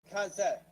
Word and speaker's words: Cosette: Cosette. When before the day. How do you say it? As in co-worker. Okay. And vet.